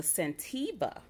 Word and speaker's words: Scentiva: It's the Scentiva.